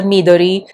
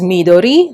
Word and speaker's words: Midori: the other stationary paraphernalia, it is pronounced as midori, not midori. Again, it's probably with the stress. Where do you put the stress in the syllable in Japanese words?